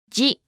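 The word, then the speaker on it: ジ: Remember, it's not supposed to sound like z. Shi with a dakten is pronounced as ji.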